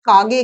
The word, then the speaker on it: কাক: যেমন আমি যদি বলি দুধ মাখা ভাত কাগে খেয়েছে। কাগ বলে কোন প্রাণী নেই। প্রাণীর নাম হচ্ছে কাক। কিন্তু আমাদের শেষের কচ্চারণ করতে অসুবিধা হয় বলে আমরা সেটাকে উচ্চারণ করি গ কাগ যেমন ছাদ আমরা বলি